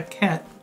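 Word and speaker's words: Cait: Really, it should be pronounced a Ket, because it's from the Irish Ketchy.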